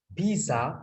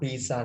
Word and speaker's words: pizza: We can order pizza. Pizza නෙමෙයි අතර pizza කියලා pronounce කරනවා T නැති වුණාට.